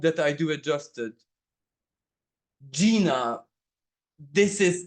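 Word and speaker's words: Gienah: Gina, this is, I understand that this is how you pronounce it. Gyenah.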